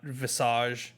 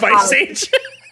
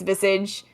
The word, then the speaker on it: Visage: Vice age uh nobody it's not Vice age it's not but I've heard people say it nobody knows how to pronounce that game if you know I think it's Vis um but hey to